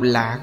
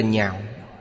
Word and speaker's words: nhạo: Chữ này đọc thành thứ tư, đọc nhạo là yêu thích, nếu đọc lạc là vui thích. Đây là chữ phá âm. Ở đây đọc là nhạo.